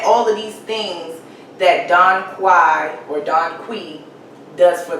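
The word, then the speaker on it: dong quai: bodies the next herb they call it don quai some pronounce it don qui but it helps promote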